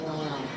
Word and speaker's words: Noel: Did he pronounce it Noel or Noel? Noel. Oh, is that Noel because of Christmas?